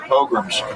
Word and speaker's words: pogrom: 600 years ago in England or France, they had their pogroms. Pogroms? Yeah. They would. Pilgrims? Exactly. Yeah. Pilgrims do. Pilgrims. They would have what they call purges. Now we know. Printing press. It's pronounced pogrom.